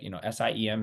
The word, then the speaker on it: SIEM: Really, the first two on the left, I think, are the biggest, but a SIEM tool, it sounds like, SIEM is pronounced SIEM.